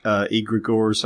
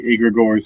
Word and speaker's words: egregores: question and I'll say egregores or egregores and kind of slide back and forth so we're all saying it improperly and I've been told the first G is silent as in Gnome so just a little